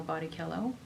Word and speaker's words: Bello: name is is Gino Bello and he pronounces it that way he prefers the Italian pronunciation uh and then I